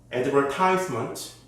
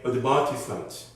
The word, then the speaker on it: advertisement: So you can say advertisement, or in British pronunciation, you can say advertisement.